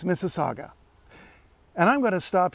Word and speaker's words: Mississauga: cross this Creek Mississauga some Americans visiting town tend to think that it's mississagua for their own reasons and I can guess why but no it's Mississauga and I'm going to